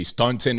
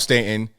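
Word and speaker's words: Staunton: for saying Stanton right because normally people that are not from Virginia would say Stuntin or something that's the way it's spelled s-t-a-u-n-t-o-n but it's called Stanton I got family out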